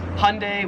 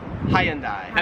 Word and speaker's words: Hyundai: they pronounce it as Hyundai Americans Hyundai interesting now I'm confused so I'm confused get like two syllables like Hyundai Australians three syllables now 40 and 41